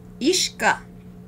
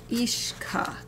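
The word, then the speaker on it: uisce: what this person say say water in Irish ish ish ishka water repe okay hold on hold on I need to Sticky out time to write this down ishka ishka and it looks like it's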